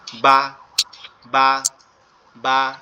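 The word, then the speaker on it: ب: বাটা আমাদের দুই ঠোঁট একত্রে লেগে যাবে, পৃথক হয়ে যাবে, তখন আওয়াজটা বেরোবে বা বা বা, এরকম ভাবে।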